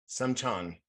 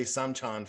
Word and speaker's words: Seymchan: And in Russia, Well, the Russians were pronouncing this Seymchan. So if we can try to say Seymchan from now on, but if not, whatever.